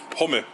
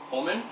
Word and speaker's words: Hummel: Hummel. Holman?